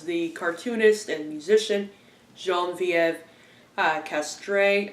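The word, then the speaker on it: Castrée: cartoonist and musician, Geneviève Castre, I think is how you pronounce her last name. It's very French.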